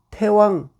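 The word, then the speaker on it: 太王: 등문공문활 등소국야 간력이사대국 즉 부득면언 여지하즉가 맹자대활 석자 태왕 이 대라고 쓰고 태라고 읽습니다. 태왕 거빈 적인 침지 사지이 피패 부득면언 사지이 견마 부득면언 사지이 주옥 부득면언 여기까지 우선 보겠습니다.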